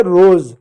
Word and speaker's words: rose: लेकिन मैं कुछ ऐसे शब्द लिखूं जैसे ROSE, इसको पढ़ोगे रोज, रोज नहीं रोज।